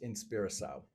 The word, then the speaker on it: Inspiração: My Portuguese is really, really not anything to be proud of, but I think it's pronounced Inspiração, inspiration.